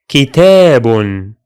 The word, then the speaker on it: كتاب: The syllables of this word are ki, te, bun, ki, te, bun. All of it will be kitabun, kitabun.